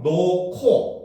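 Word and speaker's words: 놓고: 그래서 노코, 그렇죠? 히읗과 기역이 합쳐져서 키읔이 되고 있죠.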